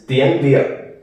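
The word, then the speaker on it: tiếng Việt: And to pronounce it, it's Dien Via.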